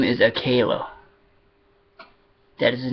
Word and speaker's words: Akela: Time he was a pup, and the way that you pronounce Shadow's father's name, his name is Akela.